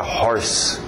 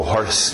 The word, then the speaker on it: hoarse: Curiosamente usa horse, só uma dica extra, outra escrita, mas a mesma pronúncia, horse para rouco. Quem está rouco está hoarse.